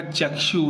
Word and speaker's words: चक्षु: जैसे ऋषि का ऋषि होता है, आकृति का आकृति होता है, उसी प्रकार चक्षु का उच्चारण क्या होगा? होगा चक्षु।